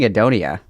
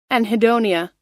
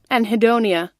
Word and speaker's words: anhedonia: I've been saying Adonia. Anhedonia. I was missing the N. I was missing the N. Anhedonia. God, that's fucking embarrassing. I say Adonia. I just don't pronounce the N. Because I can't read. I'm dyslexic. I just wasn't saying the N.